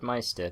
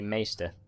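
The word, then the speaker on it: Maester: I always said Meister because, you know, well, Maestro is pronounced Maestro, as you might have expected. So I always assumed Meister was pronounced Meister, but on the TV series, at least, they say Meister.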